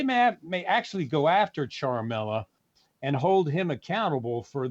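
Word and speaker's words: Ciaramella: with a whistleblower that this man charmella is how you pronounce it is not a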